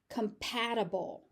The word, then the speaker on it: compatible: Compatible. Comatable. That T in the middle is just a flap T.